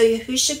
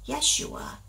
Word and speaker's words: Yahusha: Fountain was there so yahusha being woried now yahusha is our Messiah you will hear some people pronounce it yua or Yeshua how we understand it is yahusha so don't be alarmed yahusha yahusha being wearied